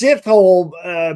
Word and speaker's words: Sithole: It's Sithole, but it's spelled Sithole.